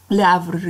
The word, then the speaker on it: Le Havre: 라브르를 이사 갔어요. 자, 프랑스어에서는 H를 발음 안 해요.